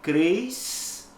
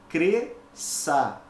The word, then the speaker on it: cresça: que a base eu não posso pronunciar cresça Isso é errado eu tenho duas letras mas apenas um som então eu pronuncio corretamente cresça a mesma coisa então